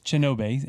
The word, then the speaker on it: Chinobay: And because that's the phonetic, I guess, pronunciation of your name, which is actually with a K. But anyway, it's Chinobay, again, CHINOBAY.